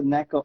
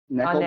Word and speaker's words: NECA: No, this is just it's a Neko. I don't know who pronounced it. Neko NECA. brand.